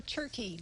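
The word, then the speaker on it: Tschirky: The maitre d' at the time was Oscar Turkey. Don't ask me to spell his name, but Okay. that's how you pronounce it.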